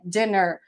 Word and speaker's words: dinner: Com 2 N's é dinner, a pronúncia é dinner.